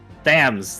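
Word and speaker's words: Thames: it what is it it's the river THS thams thams I always forget the English pronounciation because it's always always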